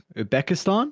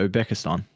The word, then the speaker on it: Uzbekistan: Uzbekistan? Yeah, Uzbekistan. That's Uzbekistan. Yeah. Uzbekistan. There we go. Yeah, there's a Z in there. Yeah. Wasn't sure if you pronounced the Z or not.